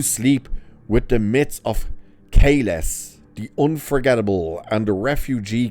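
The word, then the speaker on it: Kahless: His name's not Kailash, it's Kales.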